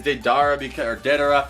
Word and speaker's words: Deidara: I say Deidara, but some people say Deidara.